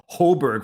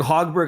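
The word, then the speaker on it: Högberg: didn't even know that you're supposed to pronounce the g in his name i've been calling him holberg for the past uh whatever so holberg hogberg i know it's a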